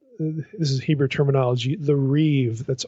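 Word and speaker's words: ריב: the what what this is Hebrew terminology the Reeve that's r i but you pronounce it Reeve like it's R the Reeve pattern Reeve is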